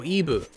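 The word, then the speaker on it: イブ: LB is how Japanese people pronounce Eve. Oh, Ibu.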